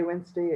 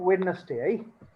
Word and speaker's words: Wednesday: so the next one is days monday tuesday wednesday and it was like on youtube for example